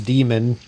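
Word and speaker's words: Daemon: um the books are the first one is demon it's spelled D E sorry d-a-e-m-o-n and the second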